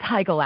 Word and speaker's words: Heigl: a sudden she goes well it's Heigl actually that's okay a lot of people get the name wrong and I'm not mom